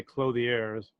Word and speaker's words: clothiers: said it I believe unless you want to sound pretentious you say clothe the airs clothes clothes what I've